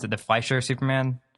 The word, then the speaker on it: Fleischer: So we get an amazing intro, which is a wonderful callback to, how do we pronounce it? The Fleischer Superman? Fleischer, yeah.